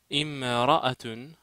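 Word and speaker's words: امرأة: Imra'atun, ça veut dire femme, c'est une femme, alors, i. Ra-ra-a-a-tun. Donc prononcer Imra-atun.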